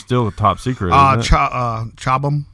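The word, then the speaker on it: Chobham: Chabam, I believe it's pronounced that way.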